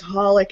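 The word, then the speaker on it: xxxHolic: I think it's just holic. I don't think you're supposed to pronounce the X's. I think it's just pronounced holic.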